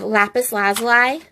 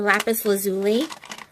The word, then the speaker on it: lapis lazuli: I have lapis lazuli or lapis lazuli. Oh, they call it different. Pronounce it different.